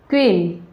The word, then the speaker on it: queen: लेकिन यू का यूज़ हम यहाँ पे करते हैं, लेकिन जो यू की जो साउंड है वो नहीं होती है, ये भी साइलेंट होता है, यानी कि इसको नहीं पढ़ा जाता है। अब जैसे इसको पढ़ेंगे हम क्यूइन, क्यून, इस तरीके से, क्वीन, क्वीन, इस तरीके से।